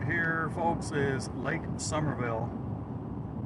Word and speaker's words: Somerville: Yeah, this lake right here, folks, is Lake Somerville. Not spelled like the season summer, spelled differently, but pronounced the same. It's Somerville.